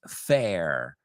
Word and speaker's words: Phair: Number 1 is Liz Fair, and her name is spelled Phair, Liz Fair.